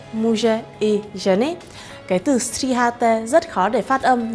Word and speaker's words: stříháte: stříháte muže i ženy. Cái từ stříháte rất khó để phát âm nên chúng ta sẽ dừng một chút ở đây.